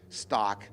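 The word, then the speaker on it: Stach: Michael Statch, or Stack, your name, last name is spelled S-T-A-C-H. If it's German, it would be pronounced Stock.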